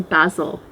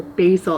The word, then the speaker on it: basil: just down here some basil or basil I always get that wrong it's pronounced differently in North America to Britain and this is just